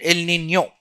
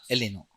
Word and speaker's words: El Niño: Okay, La Niña and El Nino, correct pronunciation. But normally everybody says La Nina, El Nino.